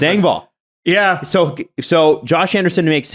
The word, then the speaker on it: Engvall: It's Engvall.